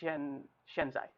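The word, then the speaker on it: 现在: And in Chinese, it's pronounced shenzai.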